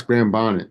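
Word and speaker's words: Graham Bonnet: Alat too grah Bonnet oh it's grah Bonnet did I say it wrong it is said spot yeah it's grah Bonnet I don't know how I was looking at it and reading it wrong he was also in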